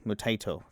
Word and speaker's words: Mutaito: Taito. Mutaito, thank you.